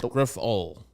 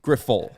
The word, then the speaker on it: Grifol: get updates for that I think it's gruffal it's two words it's the pronunciation guide that they put out it's two words g-r-i-f in little uh you know little letters and then in big letters it was full so I would say grifol okay those are not